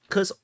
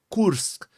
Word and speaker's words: Kursk: the back foot so the Cur curse the the correct correct pronun pronunciation is ksk the ksk offensive of